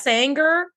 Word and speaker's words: Saenger: No, it's called the Sanger Porcelain Design 2 set. I have a picture of it up now on our Instagram, so go check it out. Sanger is spelled Saenger.